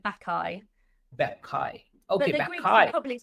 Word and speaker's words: Bacchae: Well, it's actually a Greek word, but like if I was to anglicize it, Bacchae.